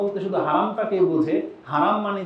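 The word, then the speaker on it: حرم: কিন্তু তারা হারাম উচ্চারণই করতে চায় না। ওই উর্দু থেকে আসছে, পাকিস্তানে যেমন বলে হেরেম শরীফ, ইন্ডিয়ানরা বলে, তো বাঙালিরা ওইটাই শিখছে না।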